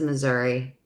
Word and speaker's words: Missouri: you say it Missouri or Missouri Marianne says Missouri you'll see you'll see that like when we